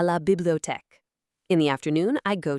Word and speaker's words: bibliothèque: In the story, Sophie says, L'après-midi, je vais à la bibliothèque. In the afternoon, I go to the library. Let's practice pronouncing this giant word together. I'll break it down for you. bibliothèque.